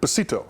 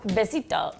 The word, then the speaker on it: Besito: Besito. Besito. Besito.